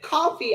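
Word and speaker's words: Ko-fi: Coffee. I got coffee. It's It's not spelled coffee though. It's spelled K O F I.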